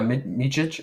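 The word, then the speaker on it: Micić: I mean, you have both of Mann and is it Mikic, the backup that they also picked up from the Thunder? Is that how you pronounce his name? Yeah, Micic, yeah, the EuroLeague Yeah.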